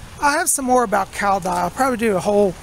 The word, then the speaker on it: Cao Dai: It's spelled C-A-O-D-A-I, Cao Dai. It's pronounced like Cao Dai.